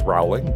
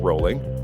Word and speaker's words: Rowling: JK Rowling that's right the Harry Potter author's name is not pronounced Rowling but rolling you may learn a